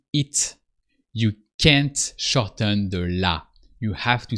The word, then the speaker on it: la: So you have really to pronounce the la, the a of la, la.